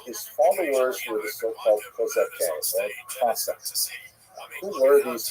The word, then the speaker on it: Cossacks: followers were the so-called Cossacks, or Cossacks. Who were these Cossacks? Cossacks, or Kozakev, to use the Ukrainian pronunciation, were basically Ukrainian peasants